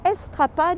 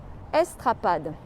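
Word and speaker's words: Estrapade: see a sign I'll show it to you estrad is spelled e s t r a p a d e estad well I want you to picture this place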